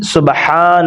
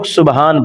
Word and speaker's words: سبحان: الاعلی۔ اب یہاں پہ بعض لوگ سبحان پڑھتے ہیں، سبحان ربی الاعلی، سبحان ربی الاعلی، یہ بالکل غلط طریقہ ہے، بالکل الفاظ کی ادائیگی صحیح نہیں ہے۔ اصل درست طریقہ کیا ہے، سبحان، ہا کو بھی بالکل واضح طور پر تلفظ کے ساتھ ادا کریں گے، سبحان ربی الاعلی،